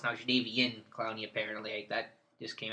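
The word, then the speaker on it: Jadeveon: think he's CH clown is now he's not jadav it's now jvi in Clowny apparently that just came out the other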